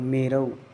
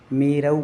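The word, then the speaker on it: मेरौ: यहां पर ग्रह और मेरऊ जहां ऐ की मात्रा हो वहां आई की उच्चारण करें जहां औ की मात्रा हो वहां औ की करें मेरो नहीं है मेरऊ बोलना है कुलाद्रो नहीं है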